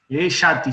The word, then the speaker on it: jati: Yati se escribe, con J, Jati.